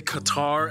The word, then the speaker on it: Qatar: host barb's full disclosure it's actually fully acceptable to say qatar as well because you know over time most people kind of just messed up the pronunciation and the locals are just kind of like let's just go with it in any case hot